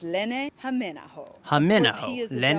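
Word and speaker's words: Hämeenaho: The first thing you need to know is how to properly pronounce his name. Here we go. It's Lene Haminaho.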